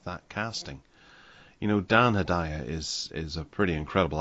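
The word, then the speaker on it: Hedaya: casting you know dan hidaya is is a pretty incredible actor and um he's been in or hadaya if you want to pronounce it that way i i've always said hidayah since i was a kid um he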